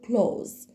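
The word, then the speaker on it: clothes: وخلي بالي احنا قلنا مش هننطق غلط تاني ونقول لا احنا مش هنعتبر موجودين وهنقول على طول امريكا بنقول كلوز طيب نمبر وان هوايتي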